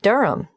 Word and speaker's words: Durham: of course I should know that but it's just one of those names that sounds quite different from the way you spell it it is confusing I've